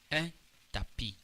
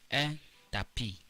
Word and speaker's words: un tapis: There is S at the end, but the S is silent.